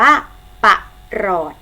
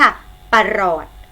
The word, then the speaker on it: ปรอท: สังเกต นะ คะ คือ พยางค์ แรก ออก เสียง อ่ะ ถึง เสียง พยางค์ ที่ สอง ออก เสียง เหมือน มี หอ นำ คำ นี้ จึง อ่าน ว่า ปรอท อีก ครั้ง ค่ะ ปรอท ปรอท existed หนึ่ง เสียง